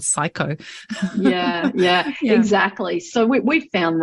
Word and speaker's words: psycho: of the others, even psychosis, because if it's spelt with a P. Whenever I prescribe the psychotico bowel nosode, it's psycho.